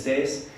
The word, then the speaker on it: Thijs: everyone my name is States that's how you pronounce it I'm a Dutch speaking